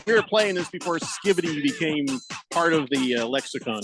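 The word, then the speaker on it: skibidi: It's a slang used by Gen A, and it's pronounced skippity. But it's not. It's skibbity. It's not skippity.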